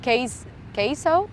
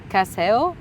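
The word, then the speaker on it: CaseOh: Look, for example, at Queso. I always pronounce him Queso, like the cheese, but it's Caseo.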